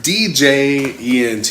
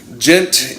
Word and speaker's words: djent: djent djent is noticeable hi spillage it happen deejay ent how do you how do you how do you pronounce that okay gent is a sub-genre of progressive metal named for